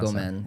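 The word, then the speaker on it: ごめん: gomen if you're like super or like casualer.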